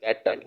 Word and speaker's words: kettle: ई आखिर में है तो इसलिए साइलेंट, ठीक है, ई साइलेंट, ठीक है, ये कानून है।